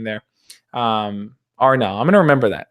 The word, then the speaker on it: Anel: It's pronounced Arnell. And spelled Anel. It's Bosnian, but yeah, a lot of people joke about my name and call me Anal, but I don't take it so seriously.